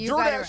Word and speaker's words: Jordache: Jordache is the name, right?